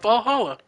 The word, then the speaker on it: VA-11 Hall-A: bit hard to pronounce good thing it's actually called Valhalla the funny numbers and Leathers are just a code anyway I visit this